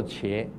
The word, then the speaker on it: 伽: 这个楞伽经，一个人字旁，一个伽，读什么？楞伽经啊，读作伽，一个人字旁，一个伽啊，楞伽经。